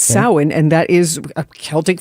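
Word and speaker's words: Samhain: Well, Sam Hayne is used to be the name of a punk band, but how you say it actually is sin. So it looks like Sam Hane, but it's sin.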